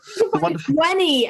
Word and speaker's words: veni: I think about it's Wenny, Weedy, Vici. Yeah, that's the useful things you know if you learn Latin. If they wanted us to pronounce it Wenny and Weedy, they should have drawn the other half of the fucking W.